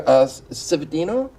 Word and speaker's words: Cividino: Right beside Rebecca, we have Andrew Cividino. How was that pronunciation?